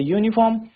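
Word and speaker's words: uniform: यूनिफॉर्म consonant sound आ रहा है। और जो अंब्रेला है। अंब्रे अंब्रेला में हमारा वोवेल साउंड आ रहा है।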